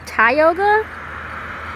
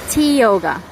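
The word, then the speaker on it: Tioga: that pretty cool but technically this is how you're supposed to pronounce tyoga well it's also spelled wrong but T yoga not t i o g a like tyoga the English version historical markers of Bradford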